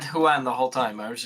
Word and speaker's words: Huan: or is it Juan it's one like with a J yeah no but it's spelled with an h and if you pronounce